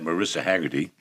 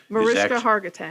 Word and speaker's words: Mariska Hargitay: The recent news is the revelation that Marissa Haggerty, Mariska Hargitay. Hargitay, I have to say it right.